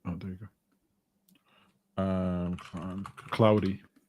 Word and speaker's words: Claude: Um, cloudy. I was listening to this YouTuber and he he he pronounced it cloudy and I was like, "Oh, no, not claude."